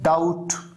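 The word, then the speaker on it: doubt: पर T silent है, डाउट यहां पर बी साइलेंट है, कोम यहां पर बी साइलेंट है, और ऐसे कई सारे वर्ड्स हैं जिसकी वजह से स्पेलिंग मिस्टेक्स हो जाती है।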